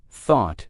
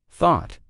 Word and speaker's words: thought: Let's repeat the word thought together one more time because that's a tricky one for pronunciation. Thought. Thought. We have the unvoiced F at the beginning, which you can think of as blowing air between your teeth with your tongue.